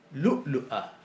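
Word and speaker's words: لؤلؤة: Lu'lu'a. Lu'lu'a. Si nosotros en árabe decimos lu'lu'a, está mal, no se entiende, o lo que es peor puede significar otra cosa.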